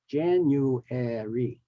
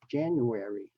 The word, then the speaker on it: January: and look at January the actual correct uh pronunciation has four syllables January January same with febr February but in casual speech we can say January February okay and these are